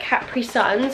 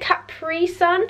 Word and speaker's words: Capri Sun: capri cat is it capri sun because some like americans say capri sun and it kind of winds me up because it's capri sun it's not capri it's